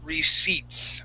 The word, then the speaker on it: receipts: Now, I want to go over the word receipts, okay? Now, the P in this word is silent, okay? Okay. Yeah, so the word is actually receipts.